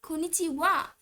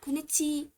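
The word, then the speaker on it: こんにちは: So why is it Konichiwa and not Konichiha? Shouldn't it be Konichiha? Okay, now this was because wa was originally a particle in this sentence.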